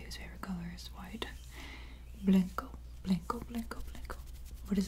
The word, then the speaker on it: blanco: Blanco, blanco, blanco, blanco.